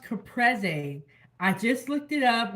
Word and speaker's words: Caprese: mushrooms we're going to do that and it's pronounced capre I just looked it up on how to pronounce it it's capre skewers we have some more Tomatoes we got